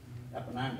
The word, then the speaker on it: Apennines: I do know that he was a sniper for the most part in Italy up the, am I pronouncing it right, Apennines, the mountains? Apennines, A-P-E-N-I-N-E-S.